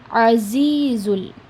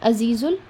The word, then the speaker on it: العزيز: For za letter, I have told you in the pronunciation class that it comes with a buzz sound. Za, z, azizul. Whenever you're pronouncing za, the upper two jaws, the both jaws will touch each other.